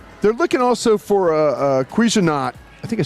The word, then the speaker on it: Cuisinart: They're looking also for a Cuisinart. I think I said it right. Cuisinart.